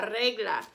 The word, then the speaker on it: regla: everybody asked me kitty notice i'm rolling my r because in spanish when a word starts with r you roll your r la regla so a good way